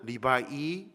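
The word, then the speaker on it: 礼拜: 그래서 여러분이 못 알아듣겠지만 제가 발음을 해드리면, 중국어는 리바이, 리바이알, 리바이산 이렇게 얘기합니다.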